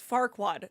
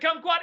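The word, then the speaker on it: Farquaad: you're saying Doug U it was farquad not cquad a gotcha okay you know I was so s was like I'm like well was it Kum quad it was Kum quad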